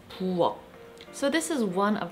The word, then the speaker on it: 부엌: The 받침 for this word is 키읔, which is pronounced like a K. But since it's a 받침, the word is pronounced as 부엌.